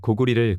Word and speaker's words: 고구려: 것은 당연한 일입니다 고려나 고구려 할 때 쓰는 여예 한자를 고울려 또는 나라 이름 리로습니다 네이버 한자 사전을 보시겠습니다 나라 이름을 말할 때는 리로 발음을 해야 하고 동네 이름을 말할 때는 여로 발음해야 하는 것이 맞다고 생각됩니다 사전에도